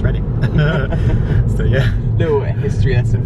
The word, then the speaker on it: Reading: But for those that don't know, Oracle is a mall in Reading, which is spelled Reading but pronounced Reading.